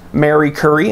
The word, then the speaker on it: Marie Curie: Polish-French physicist and chemist Marie Curie. I've also heard her name pronounced Mary Curie. I'm sure people will correct me in the comment section regardless of how I say it.